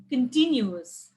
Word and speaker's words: continuous: more than two syllables there are four syllables then where will you stress on the second one second one from the left anonymous carnivorous luxurious hilarious continuous and cost and conspicuous